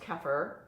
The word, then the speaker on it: kefir: It's called kefir, or sometimes it's pronounced kefir.